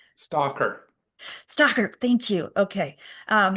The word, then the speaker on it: Slater: Stalker.